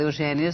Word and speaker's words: Eugénia: O seu nome se escreve com acento agudo. Agudo. Todas as pessoas em Portugal, Eugénia, se escrevem com acento agudo.